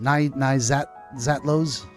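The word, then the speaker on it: Naixatloz: Na zatlo. Okay, what a word. It's spelled N A I X A T L O Z.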